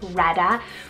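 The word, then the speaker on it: Rhetta: Reda spell r h e t t a Rada with those nicknames of rat or even Etta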